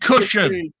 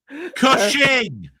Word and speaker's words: Cushing: Uh Tony says, "Yeah, twins of Peter Cushion as a kind of evangelical Peter Cushing, not Cushing Cushing." You said Cushion even Puritan character if I remember correctly.